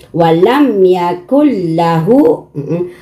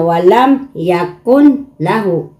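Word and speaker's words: وَلَمْ يَكُن لَّهُ: Yung nun, itatago mo dito sa lam.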